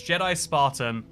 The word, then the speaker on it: Jedi Spartan: I say it wrong every time. It's Jedi Spartan, and I appreciate you putting up with that, Mr.